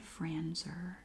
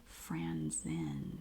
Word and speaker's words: Franzen: I think I said Franzer. Franzen.